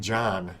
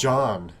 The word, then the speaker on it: John: pronouncing my name wrong John I kept saying John and they're like it's John it's John sorry I'm sorry they were like you're saying an a instead of the O I'm like John and they like and